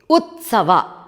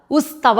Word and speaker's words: ಉತ್ಸವ: ಉತ್ಸವ ರಾಜ್ಯೋತ್ಸವ ಉ ನಂತರ ತ ಮೊದಲು ಬರಬೇಕು ತ ಗೆ ಸ ಒತ್ತು ಉತ್ಸವ ಇಲ್ಲಏನಾಗ್ತಾ ಇದೆ ಸ ಗೆ ತಾ ಒತ್ತು ಕೊಡ್ತಾ ಇದ್ದಾರೆ ಉ ನಂತರ ಉಸ್ತವ ಮಾಡ್ತಾ ಇದ್ದಾರೆ ಉತ್ಸವ ಅಲ್ಲ ಅದು ದಯವಿಟ್ಟು